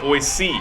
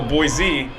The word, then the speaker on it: Boise: Idaho I have so people there call it boy C like like the letter c most everybody else calls a boy Z so maybe this guy's